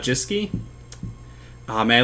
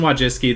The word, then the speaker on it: Wojcicki: interviewing Susan what what jiske man looked up how to say her name earlier I know that's wrong but Susan Wojcicki the CEO of YouTube